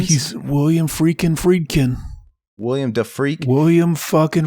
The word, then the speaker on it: Friedkin: Is it Friedkin? He's William Friedkin.